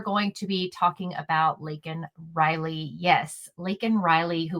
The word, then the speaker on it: Laken: He called her Lincoln Riley when he was asked to say her name.